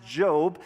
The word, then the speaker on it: Job: wisdom so the first one it looks like job but it's pronounced job and is the name of the central character